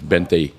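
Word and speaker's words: veinte: Pronounced with a B, but it's Bente.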